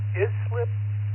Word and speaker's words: Islip: Um, it's easy to remember. It's in New York where it's freezing cold as I slip because there's so much ice out there.